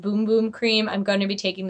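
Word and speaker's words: Bum Bum Cream: As I said, I'm going to take this, as somebody told me, is pronounced Boom Boom Cream.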